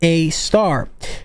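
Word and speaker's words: A*: standard algorithm to perform this is called AAR pronounced AAR or a asteris pronounced AAR and Reuters has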